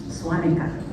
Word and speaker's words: Svanikia: missionaries who spoke German, they changed the name of the Svanikia to Swanika with the V, because in German you pronounce WV. So now, among the Gas, the name Svanikia is actually pronounced Swanika and considered a Ga